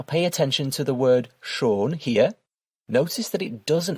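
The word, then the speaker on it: schon: So with the umlout the word is pronounced shern which means beautiful and without the um that word is pronounced sha which means already.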